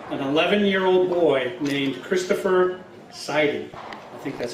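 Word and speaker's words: Seider: He did the autopsy on the first victim of the Revolutionary War, an 11-year-old boy named Christopher Siding.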